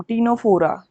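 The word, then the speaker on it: Ctenophora: उसको बोलते हैं फाइलम टीनोफोरा। क्या? टीनोफोरा। यहाँ पर सी जो है वो साइलेंट रहती है, तो इसमें ध्यान रखना फाइलम टीनोफोरा।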